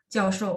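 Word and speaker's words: 教授: Nah, kalau dia sebagai kata benda, kayak misalnya kita bilang 教授, 教授 profesor, itu dibaca nada 4, 教.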